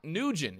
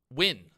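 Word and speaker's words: Nguyen: Lock Nugent.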